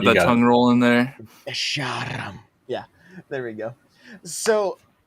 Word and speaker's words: Escharum: Let me see if Escharum. Did I say it right? Yeah. Escharum.